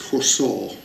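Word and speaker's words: חָסָה: The word trust here in both cases is the Hebrew word C-H-A-C-A-H, pronounced chosor.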